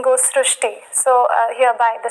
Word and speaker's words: Shrushti: pronounced as Ru so that is why the pronunciation goes STI so hereby the spelling sir so you are